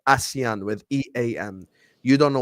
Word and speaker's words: ASEAN: This is not pronounced Asian. This is pronounced ASEAN.